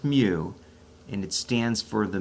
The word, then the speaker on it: mu: the average symbol but technically we call that mu it's pronounced mu and it stands for the mean of a